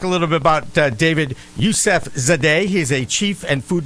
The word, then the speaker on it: Yusefzadeh: I think the Z is silent, so I'm going to go Yusefzadeh. Yusefzadeh. It isn't silent.